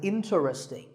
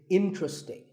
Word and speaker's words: interesting: is interesting this is mispronounced sometimes as interesting but there are only three syllables in tree sting and the stress is on in so the word is interesting number 12 is hotel